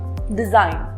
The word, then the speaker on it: design: And the rule is that sometimes the letter G is silent when it comes before N. For example, design or sign.